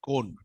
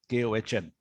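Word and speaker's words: Köln: In Germany, they pronounce it that Kohn, Kohn.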